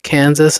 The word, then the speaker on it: Kansas: similar Indian tribal names, but that Kansas chose to follow the standard English pronunciation marked by a hard A sound in can and vocalizing the final S, while Arkansas stuck with the original French pronunciation. It's the long French and Italian ah sound, wrote the Arkansas Historical Society, which explains why Arkansas was sometimes spelled Arkansaw, including in the 1818